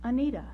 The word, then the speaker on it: Anita: But first, almost all Anitas are pronounced Anita. We of her generation know her as Anita.